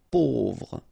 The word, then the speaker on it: pauvre: A, U together will produce this O sound. Pauvre.